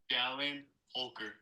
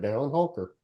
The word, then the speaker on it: Dallin Holker: Dallin Holker. Dallin Holker. I did say it right, Dallin Holker.